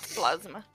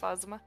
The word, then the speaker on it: Phasma: God okay fine and it's not plasma I also thought like I I swore I saw it spelled like that maybe everybody is just incompetent at saying phasma I never heard somebody